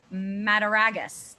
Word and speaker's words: Mataragas: tables on artistic director nick mataragus did i say it right yeah yeah i can spell it